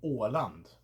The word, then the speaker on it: Åland: There's also Åland, which is the large island between Sweden and Finland. Åland, same principle, an Å with land afterwards.